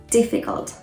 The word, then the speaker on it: difficult: is the letter u you don't say difficult um that u does not sound like a u it sounds like um schwa again this um sound